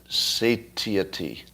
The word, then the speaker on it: satiety: So, satiety? Satiety. Thank you. It's pronounced satiety?